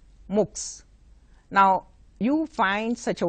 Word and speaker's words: MOOCs: form of distance education MOOCs MOOC s we pronounce it looks now you find such